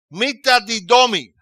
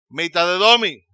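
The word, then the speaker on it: μεταδίδωμι: La palabra reparte usada aquí viene de la palabra griega pronunciada mitadidomi. Mitadidomi. Mitadedomi.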